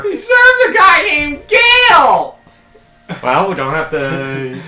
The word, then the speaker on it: Gail: Gale? You had a girl's name? Well, it could be worse. I could have pronounced it Emperor Jill. Sorry, Emperor Gale.